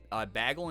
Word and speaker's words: bagel: my Michigan native teacher would say bagle instead of bagel I mean that is a that's a more common pronunciation War I don't know